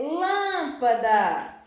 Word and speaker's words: lâmpada: temos na palavra proparoxítona e é lâmpada lâmpada Lan é a sílaba mais forte da palavra lâmpada Então